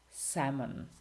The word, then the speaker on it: salmon: These letters are simply not pronounced. They are written in a word, but you don't pronounce them.